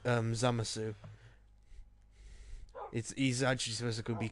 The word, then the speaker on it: Zamasu: It's supposed to be worded without a U, and the U is silent in his name.